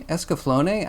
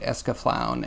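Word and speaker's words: Escaflowne: that I don't know that's me escaflone I I liked it I haven't seen it in a while though I heard someone pronounce it escaflown and I almost committed sapuku right right there on the spot floating it's pretty cool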